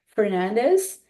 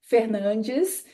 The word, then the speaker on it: Fernandes: this country I say Fernandez but it's not the right pronunciation it's more like Fernandes and I asked her